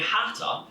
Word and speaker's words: Hata: So it's pronounced exactly the same, but when it comes to spelling, it's H with a C.